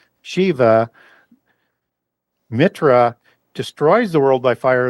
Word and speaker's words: Mithra: Mitra in Proto-Indo-European, Mitra, is that H is silent and isn't there in the more ancient form of the language.